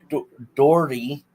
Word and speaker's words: Doherty: Unfortunately, next person, Shannon, and I always get her last name wrong, but it's Shannon Doherty, which was the oldest sister, Prue Halliwell.